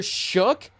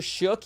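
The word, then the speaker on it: Shough: Tyler Shook, I guess, is the way people have been saying it all day today. So Tyler Shook, even though his name is spelled O-U-G-H, there's no C or K in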